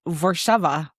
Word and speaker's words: Warszawa: At the beginning, you told me how to pronounce Warsaw in Polish. It's Warszawa.